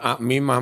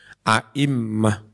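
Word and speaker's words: أئمة: Tapi bacanya bukan a'mimah mas idgham, a'immah.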